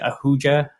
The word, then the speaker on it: Ahuja: butcher your last name is that how you pronounce it Ahuja no you actually got it right which is